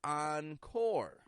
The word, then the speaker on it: encore: course of your meal entree next we see oncore Encore this means again in French we use